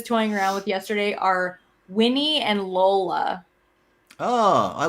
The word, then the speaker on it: Winnie: It's got like 2 syllables, Winnie. So like Winnie, it's kind of like Bonnie.